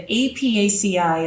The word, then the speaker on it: Apiaceae: The Apiaceae is how you pronounce the botanical name for this family of plants.